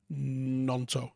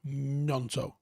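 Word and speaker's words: Gnonto: watching that's wilfred nunto the g is silent i believe nanto nanto like gnome maybe he's a bit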